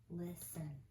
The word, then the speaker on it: listen: Remember with listen, it's a two-syllable word where it's divided between the S and the T. The first syllable you'll sound out lis. The second one in, listen.